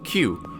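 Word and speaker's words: 九: in Japanese is pronounced Q this number has become a Superstition because the Q sound is incredibly similar to KU which means such things as despair pain and suffering so the reason why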